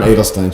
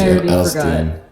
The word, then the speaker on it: Adelstein: How do you pronounce it? I'm Adelstein. She's Edelstein.